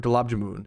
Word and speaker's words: gulab jamun: It's moon, Gulab Jamun.